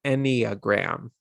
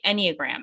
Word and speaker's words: Enneagram: I thought it was Enneagram. Oh, you're so right. Enneagram. It is Enneagram. It is Okay. Enneagram.